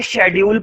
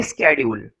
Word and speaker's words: schedule: Class का स्केड्यूल था, इसको कुछ बच्चे शेड्यूल पढ़ते हैं और कुछ बच्चे स्केड्यूल पढ़ते हैं, लेकिन इसकी जो सही प्रोनाउंसिएशन होती है वो होती है स्केड्यूल।